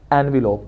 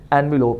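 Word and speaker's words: envelope: के बगैर वर्ब है, और जब ई लगेगा तो फिर हम इस वर्ड को प्रोनाउंस करेंगे एनवेलप, वो इन्वेलप और ये एनवेलप। अब आपने इस चीज़ को, इस वर्ड को भूलना नहीं है, हमेशा इसको एनवेलप ही कहना है, क्योंकि अमूमन यहाँ पे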